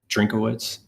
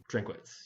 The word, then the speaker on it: Drinkwitz: that Brad Childress is how do you say his last name? Drinkowitz. Drinkwitz, yeah. Drinkwitz.